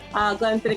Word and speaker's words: Glenfiddich: And I am with an IE, Glen-fiddick ambassador. I've been pronouncing this Scotch wrong for my entire 21-plus life.